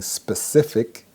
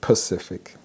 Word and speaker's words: specific: Instead of saying specific, they say Pacific.